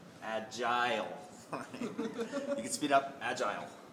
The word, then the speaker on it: agile: of some people say a Jill and those people are wrong right the correct pronunciation is like an I right agile you can speed up